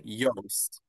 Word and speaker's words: Joost: like it's like toast Yeah. and then Yoast. So So Joost. like yeah, Yoast.